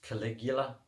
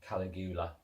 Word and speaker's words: Caligula: videos oh yeah and it pronounced Caligula what just I'm like the Roman Emperor Caligula yeah not calleb eula or anything weird but anyway he was